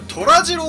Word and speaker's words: 登良治郎: はい、今回こちら、うん、ラーメン虎次郎と読みます。